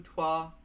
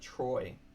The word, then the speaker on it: trois: Un, deux, trois. Yeah, that's French, right? Un, deux, trois, sept, sept, huit, neuf. Trois. I pronounced it Troy.